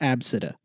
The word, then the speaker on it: Abcde: pronounced latisha and then a very popular one is ABCDE which is pronounced AB città I hate you what